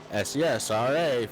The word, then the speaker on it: Cesra: really emphasize that because I was told that I was saying it wrong all this time, and I didn't even realize it, but CESRA, SESRA 15, if you would like